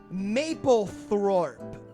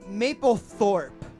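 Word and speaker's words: Maplethorpe: theoretical band name is mapleth wa I I didn't pronounce that correctly it's one word Maple Maple Thorp like like the photographer yeah Mike alpha papa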